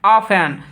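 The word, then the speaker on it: often: जैसे देखिए यहाँ देखिए, ऑफेन, ऑफेन मतलब यहाँ टी के पहले क्या है, एफ है यहाँ, तो यहाँ टी क्या हो जाएगा आपका, साइलेंट हो जाएगा, तो इसको क्या बोलेंगे, ऑफेन बोलेंगे, यानी प्राय या अक्सर।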